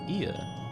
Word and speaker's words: Ea: Ia, I believe, was the pronunciation used when referring to our people.